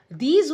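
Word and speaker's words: though: टी एच ओ डब्ल्यू इनफ puff इन दो और लो की साउंड है लेकिन इसे हम दो पढ़ेंगे इनफ इनफ की जो है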